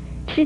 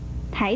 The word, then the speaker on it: 笞: 要提出来的是，吃字很多人不注意，都把它误念成了这个台的音。台字的国语